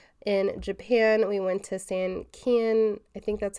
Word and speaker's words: Sankeien: our first outing In Japan, we went to Sankeien, I think that's how you say it, Sankeien Garden in Yokohama, and it was like this